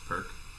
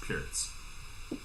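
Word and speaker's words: Pirc: Do you know it's not pronounced perk? Oh, how is it pronounced? Very few people know it's pronounced Pirtz.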